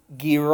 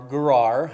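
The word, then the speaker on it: Gerar: Shur and stayed in gr or garag however you want to pronounce it but it is a hard G sound we know that for sure alright Abraham on the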